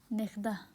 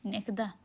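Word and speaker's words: נכדה: तो फिर हम लोग हिब्रू में नेख्दा, नेख्दा। ओके, नेख्दा, ग्रैंड डॉटर पोती हिंदी में, और हिब्रू में नेख्दा।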